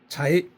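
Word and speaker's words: 财: 발음은 자, 자이 이렇게 발음이 되죠.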